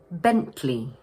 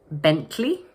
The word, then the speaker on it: Bentley: Just watch out for the long E sound in the second syllable. So we pronounce it Bentley. You may also notice some native British speakers dropping the middle T sound and instead using what we call a glottal stop. So instead they would say Bentley. So you could say Bentley or Bentley.